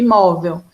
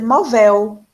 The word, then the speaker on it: móvel: Se você acentar a sílaba véu, porque terminou em L, a sua palavra vai ser movel, e ela seria uma oxítona, porque aí você estaria acentuando a última. Você precisa observar a letra que termina a palavra, mas vai acentuar a sílaba anterior. Móvel, tá? Terminou em L, o acento vai no anterior.